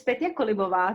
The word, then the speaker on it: Petia Kolibova: than i do thank you terry so it's petty colibo thank you so much for having me i